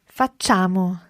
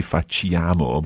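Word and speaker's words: facciamo: carefully i'll add to how francesca says this fatchamo for chamo okay although there's an eye written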